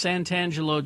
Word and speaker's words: Santangelo: And it's Santangelo just like it sounds. You spell it just like it sounds. Santan Jello.